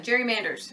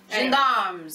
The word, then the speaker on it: gendarmes: Gendarmes? How do you say that? Where? This one, gerrymanders or something like that. Is that how you say it? Gendarmes.